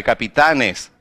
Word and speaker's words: capitanes: Mas quando ela passou para o plural, ela já não continua aguda, ela continuou, agora ficou grave, capitanes.